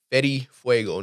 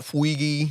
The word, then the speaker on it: Fetti Fuego: Fuego underscore f-e-t-t-i-f-u-e-g-o underscore let them know how to pronounce it against Betty Fuego not Fuigi not a foil you know get him